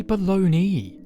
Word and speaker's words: bologna: learned something today chat it's pronounced bologna why why baloney there's an a at the end what the [ __